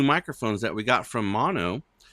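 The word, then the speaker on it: Maono: that we got from Mono. Mono, but it's spelled M A O N O. It's kind of weird, but um yeah, just let us know because I know that it sounds different.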